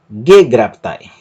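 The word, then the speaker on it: γέγραπται: Perceba que a sílaba tônica é a antepenúltima, gegraptai, gegraptai. E essa palavra termina com o ditongo alfa e iota, gegraptai, katos gegraptai.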